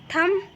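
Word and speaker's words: thumb: यहाँ पे भी देखिए थम, तो यहाँ पे M के बाद B आया हुआ है तो यहाँ पे B भी साइलेंट होगा।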